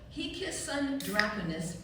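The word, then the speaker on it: hic sunt dracones: Mario probably can't see this right now, but it's pronounced he kissed son Draconus and it says here be dragons.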